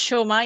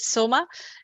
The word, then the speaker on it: Soma: No, I mean, it's Shoma, but I mean, I write it without the H, but it's not a problem. I mean, it's pronounced Shoma. In Bengali, it's Shoma. But okay. Yeah, that's what I thought. But both are correct. Soma and Shoma also. I have no problem. It's some I mean, pronounce it Soma, some Shoma, so it's fine.